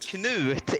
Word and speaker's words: Knut: Sorry, I see where it says No, pronounced it's nut. Knut.